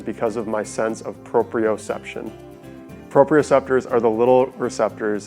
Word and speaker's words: proprioception: It kind of sounds like proprioception. So it's a 5-syllable word, and then the receptor for those is called proprioceptors.